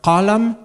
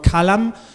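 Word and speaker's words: قلم: A pen, it can be pronounced qalam in Pashto, or kalam, because q is a foreign sound for Pashto speakers, and it's often reproduced as k.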